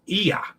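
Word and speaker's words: Oia: Thai Kansas okay and The Village on Santorini is IA okay because that must be the oi is pronounced e a okay Santorini I'm not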